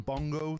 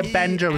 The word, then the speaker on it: Benjo: One thing I've noticed is a lot of people get Benjo's name wrong. They call him Bongo, they call him Bango, they call him Binjo. But here I am to teach you today how to say his name properly.